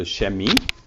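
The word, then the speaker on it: Chemie: physics pretty easy yeah shemi this one's a little it's hard to remember but when you see it you're like oh i know that's chemistry um so chemi is how it's pronounced and we have kunst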